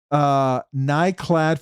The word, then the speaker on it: Nyklad: Nyklad for pronunciation. So the K is silent.